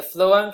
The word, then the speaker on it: phloem: I don't know if you thought about this before, but if xylem carries water but the phloem carries nutrients, and phloem rhymes with flow, and water flows, then why doesn't the phloem carry water?